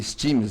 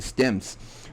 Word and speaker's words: stems: do Virtual DJ tá eu até falei steams mas a pronúncia correta é stems os stems ah exigem